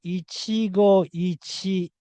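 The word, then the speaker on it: 一期一会: But the same thing is about to happen with Ichigo Ichie. So Ichigo Ichi is not correct. The correct word is Ichigo Ichie.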